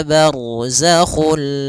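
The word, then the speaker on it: برزخ: Barzakhu, ra tebal karena ada huruf ra yang sukun didahului dengan fathah.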